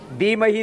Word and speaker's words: धीमहि: ना वरेण्यम भर्गो देवस्य धीमहि धीमही नहीं धीमहि धियो योन प्रचोदयात धियो